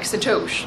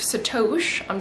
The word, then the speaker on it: Sato.sh: over the weekend called I'm not even sure how I would pronounce it, Sat. It's sat o, but then it's sh. So it's like Satoshi, like Satoshi.